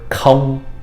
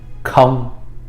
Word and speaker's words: không: And this last word, không, is pronounced again, không.